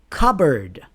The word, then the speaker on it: cupboard: Cupboard. Not cupboard.